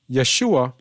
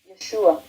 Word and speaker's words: Yeshua: probably can hear this Yeshua Yeshua Yeshua Yeshua Yeshua Yeshua Yeshua and this is a female from Israel This Is How They pronounce it with an a an a sound because they know that